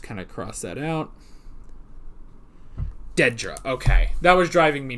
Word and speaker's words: Dedra: can find it so give me a sec Dedra that was it not Miro okay so Miro must have been the guy I'm going to just kind of cross that out Dedra okay that was driving me nuts the whole